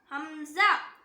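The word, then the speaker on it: همزة: Next letter ஹம்சா ஹம்சா. இதுவும் same ஹ மாதிரி தான், தொண்டையோட அடி பாகத்திலிருந்து வரணும்.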